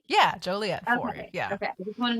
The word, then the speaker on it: Joliet: it but yeah it's it's like a Juliet but with an O and then that's a